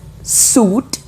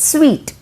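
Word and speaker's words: suite: police okay number 12 are you calling this as suit it's wrong it's sweet okay sweet suit is like this and sweet in the sun's room okay hotel room is normally called as sweet then number 13 is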